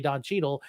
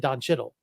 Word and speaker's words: Don Cheadle: And then my video does really well because everybody's in the comments correcting me that I didn't say Don Cheadle. I said Don Chittle.